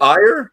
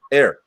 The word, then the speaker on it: Ayr: So is it ire or air? Air, as in the stuff you breathe.